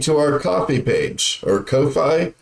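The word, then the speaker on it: Ko-fi: our coffee page or Kofi coffee coffee what I've heard it pronounced as is cofi yeah and and based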